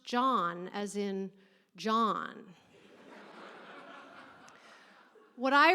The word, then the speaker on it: Can: So then we all called him can until he eventually worked up the nerve to tell us actually it's pronounced John as in John.